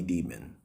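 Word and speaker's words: Dimon: run by a man named jamie demon that's his name that's literally his name that's how it's pronounced so now look initially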